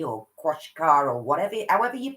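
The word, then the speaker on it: Qashqai: manual diesel i have had an automatic nissan quash kai or kwashki or koshikara or whatever however you pronounce it akwashka i call it oh which is supposedly a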